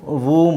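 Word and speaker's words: womb: ಟೋಮ್ ಅಂತ ಹೇಳಂಗಿಲ್ಲ ಟೂಮ್ ಡಬ್ಲ್ಯೂ ಓ ಎಂ ಇದೆ ಇದನ್ನು ವೂಮ್ ಅಂತ ಹೇಳಬೇಕು ಏನಂತ ಹೇಳ್ಬೇಕು ವೂಮ್ ವೂಮ್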